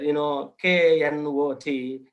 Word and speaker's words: knot: KNOT, it should not be pronounced as knot. It is a knot, like knowledge, knife, knicker, knob, all these. K is all the time silent, even K, NEL, kneel.